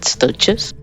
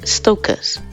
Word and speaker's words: Stoechas: Well, yes, some people pronounce it Stoechas. But when words derive from Greek, the CH is usually pronounced like a K, so it sounds more like Stoechas.